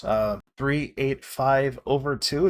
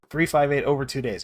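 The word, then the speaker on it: Kingdom Hearts 358/2 Days: Another example could be Kingdom Hearts 385 over 2. Did I say it right? 358? 358 over 2 days. Yeah, that's it.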